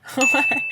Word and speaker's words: Jorge: It's a name with a silent J at the start. Jose. Oh, so close. Jorge. Yeah. Jorge.